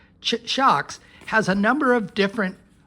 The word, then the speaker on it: SHOKZ: Now, SHOKZ, that's how you pronounce it, SHOKZ, SHOKZ has a number of different over-the-ear, it's called an open run.